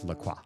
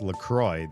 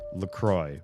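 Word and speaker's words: LaCroix: as the French word the cross, which is Laqua. It's not pronounced that way. It's pronounced LCroy.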